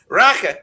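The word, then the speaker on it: rakı: Raka, as they say, they don't pronounce the I in Turkey.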